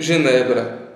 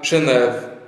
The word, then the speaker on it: Genebra: mesmo as pessoas sofisticadas acham feio dizer Genebra e insistem em usar genev embora massacrando sem querer bem entendido é a punição dos snobs a pronúncia Francesa e acham muita graça